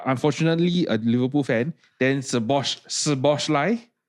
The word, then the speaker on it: Szoboszlai: And if you are unfortunately a Liverpool fan, then Szoboszlai, right? The SZ is SS, is like a s sound.